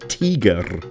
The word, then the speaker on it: Tiger: a German tank then please refrain from the English pronunciation and call it teer no don't roll the